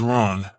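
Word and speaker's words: Rán: The realm of Ran, because Ran, pronounced in Norse as Ran, was a giantess who was the wife of Aegir, the giant and lord of the sea.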